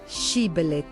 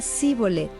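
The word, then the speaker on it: Shibboleth: Si él respondía no, entonces le decían: ahora pues, di Shibelet. Y él decía Sibolet, porque no podía pronunciarlo correctamente.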